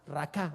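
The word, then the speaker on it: Raca: para necio es una palabra que es raka con acento en la a raka así como se oye esta palabra es es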